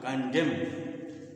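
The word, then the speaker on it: condemn: भी होता है कन डेम न इसमें भी उच्चारण नहीं होता कंडम तो इसे बहुत से सलेम सलम सलम मतलब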